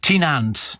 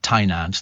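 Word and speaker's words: Tŷ Nant: Steve, says Dawn in Welsh Wales, the Welsh water in the blue bottle is pronounced Tynant, not Tynant.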